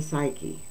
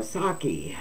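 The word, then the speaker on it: Psaki: Secretary turned MSNBC commentator gen psyche oh saki I'm sorry I did pronounce that wrong I had to remember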